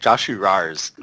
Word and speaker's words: JoshuRAWRS: And we have a special guest today, JoshuRAWRS. Is that how you pronounce it? Hey, how's it going? I say it JoshuRAWRS.